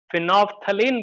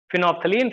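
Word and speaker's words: phenolphthalein: लिखो ऐसे, फिनोप्थलीन, फिनोल्फथलीन, PHENOL, phenol, फिर PHTH, फिनोप्थलीन बोलते हैं उसको ना, साइलेंट होता है उसमें, फिनोप्थलीन, फिर कॉमा करके methyl orange and methyl red.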